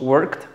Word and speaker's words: work: esta vida después tenemos work fíjate no se pronuncia la iv pero escape work work no es work si no es este símbolo que parece como un 3 es como una y